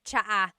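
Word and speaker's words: tsaa: Polyglot said it's like the word cha. Cha in Tagalog is t like the tea that you drink and it's spelled ts aa aa. Cha. Cha. That's such a Tagalog spelling. I love it. There's the ts sound and then the double vowel uh pronunciation.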